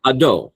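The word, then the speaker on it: Hadot: And I mean if you really want to be French with a nonaspirated h. So you know ado.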